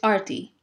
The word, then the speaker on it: Arti: My name is pronounced Arti, like A-R-T-Y, Arti.